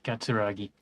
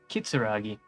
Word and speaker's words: Kitsuragi: for someone you Kim katsuragi as you approach he Narrows his eyes and extends his hand in greeting I've been saying his name wrong all this time that's embarrassing kitsuragi if an assault were